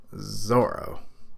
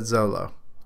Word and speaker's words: Zoro: Roronoa Zoro. I almost said Zolo. Curse you 4 kids.